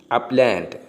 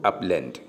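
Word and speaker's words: upland: ഇതിന് 2 ഉച്ചാരണങ്ങളുണ്ട്. അപ്ലാൻഡ് ഓർ അപ്ലാൻഡ്. അപ്ലാൻഡ് അല്ലെങ്കിൽ അപ്ലാൻഡ്, 2 pronunciation ഉണ്ട്.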